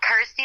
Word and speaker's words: Kirsty: that it's you know rhymes with my name and helps people pronounce my name correctly so I'm like cool Kirsty like thirsty got ity like thirsty